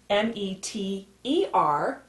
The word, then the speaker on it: meter: Both ways are pronounced meter, and they're both correct, with the E-R or spelled with an R-E.